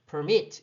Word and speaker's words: permit: 그런데 뒤쪽에 발음 강하게 읽는다고 치면 permit 이렇게 뒤까지 발음을 해야 되거든요.